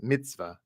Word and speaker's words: mitzvah: wrong with that uh but actually the proper pronunciation is Mitzvah it's a Mitzvah instead of a Mitzvah Mitzvah